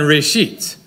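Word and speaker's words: ראשית: For an example, think about Hebrew three words, Rosh, Rishon, and Reshit, all of which contain a silent aleph, never pronounced, which, in a sense, the aleph represents three different vowels in these three different words, O, E, and A.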